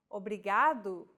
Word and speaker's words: obrigado: here in lesson two don't pronounce it like an English R don't roll your tongue listen to how Anna is pronouncing this sound the think of the quick tapping motion your tongue makes as it strikes the top gum Ridge in words like ladder or butter y altogether it's foreign